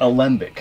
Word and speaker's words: Alembic: Alembic.